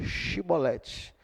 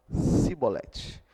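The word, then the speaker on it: xibolete: na sua linguagem um a palavra pronúncia correta seria chibolete porém os infra imitas eles não falavam chibolete eles falavam sibolete e o que que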